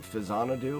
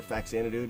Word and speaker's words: Faxanadu: I run Fazanadu or Faxanadu, depending on how you want to pronounce it, and that's a 30-minute run, and there's just a lot of stuff to remember.